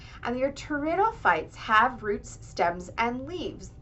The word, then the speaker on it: pteridophytes: also call this group tto fites um which is similar to pterodactyls and that the p is silent and your terites have roots stems and